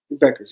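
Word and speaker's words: Bueckers: boy Paige Beck is buers is it buers Beckers the the ued is silent Beckers yeah beig Beckers so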